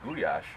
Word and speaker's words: gulyás: The real Hungarian goulash is pronounced gulyás, actually, is an awesome stew.